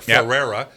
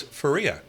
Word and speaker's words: Faria: It looks like Ferrer, but it's Faria.